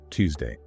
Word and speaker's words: Tuesday: Tongue inside, sharp release. Tuesday. Tongue outside, soft air. Thursday.